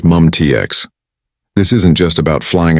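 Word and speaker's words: MUM-T: Mium TX, pronounced MUMTX.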